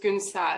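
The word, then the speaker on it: Günsel: all bad but um my actual name is goon sal which is turkish which is really difficult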